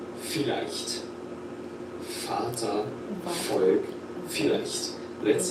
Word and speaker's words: vielleicht: Vater, Volk, vielleicht. Vater, Volk, vielleicht. Let's say each one slowly, then at normal speed. Very nice. Vater, Volk, vielleicht. It's not like a V, it's like an F.